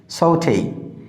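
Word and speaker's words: sauté: বাট it will be সৌথেই। খেয়াল করো এটা বানান একরকম, কিন্তু যে অনুযায়ী উচ্চারণ হওয়ার কথা শব্দটি সেরকম হয়নি, একটু ভিন্নভাবে উচ্চারণ হয়েছে।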